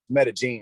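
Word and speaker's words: Medellín: and i'm like yo my people are in medellin for real a lot of people pronounce it that's not it's meta gene you know i mean but my people are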